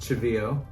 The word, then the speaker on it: Cheveyo: Cheveyo, how did you get your name and how do you pronounce it? Okay, so it's pronounced Cheveyo, and it's Hopi, Native American.